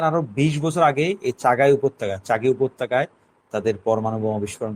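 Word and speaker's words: چاغی: Iran Afghan বর্ডারের কাছে চাগি, আমরা বাংলায় পত্রপত্রিকায় সময় তখন চাগাই লিখেছে, উর্দু উচ্চারণ চাগি নামক একটা উপত্যকা, পাহাড়ি উপত্যকায় পাকিস্তান সেনাবাহিনীর একটু সন্দেহজনক তৎপরতা দেখা যাচ্ছে।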